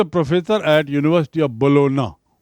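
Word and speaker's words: Bologna: professor at university of बोलोना सी the spelling and the pronunciation उच्चारण है बोलोना जी silent and बोलोना इज इन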